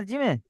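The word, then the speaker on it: جيم: তিন টান আছে না জিমেট জিম জবার জিমের উচ্চারণটা করতে হবে জিমের মাঝখানে উপরের তালু লাগিয়ে মোটা আওয়াজটা বার করতে হবে জিম জিম জবর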